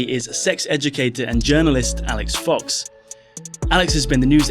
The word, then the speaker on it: Alix Fox: yeah I am indeed Alex Fox the name that quite conveniently rhymes with Alex Cox which is fitting for